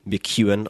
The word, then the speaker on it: McKeown: you read by the author Greg McEwan Gregory McEwen on Twitter let me spell that for you it's a little tricky for